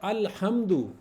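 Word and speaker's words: الحمد: मिसाल ले सकते हैं जिसमें आ रहा है अल्हम्दु उसमें देखिए लाम प्रोनाउंस हो रहा है ना अल्हम्दु अल्हम्दु तो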